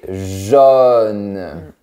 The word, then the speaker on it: jaune: Par contre, la couleur, c'est comme la lettre O, mais plus verticale. Jaune. Et à Paris, c'est un peu plus fermé. Jaune.